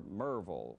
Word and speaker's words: Maryville: did it in his hometown of Maryville or Merville or well just watch they are from Washington I am from Maryville from where from Maryville for a minute there